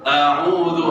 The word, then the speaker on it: أعوذ: A'udzu hamzah itu jangan baca a, ya. A'udzu. Huruf dzal yang biasa yang banyak yang baca salah a'udzu. Itu beda dzal, huruf dzal beda sama za.